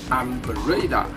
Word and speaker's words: Ambarella: It's Ambarella.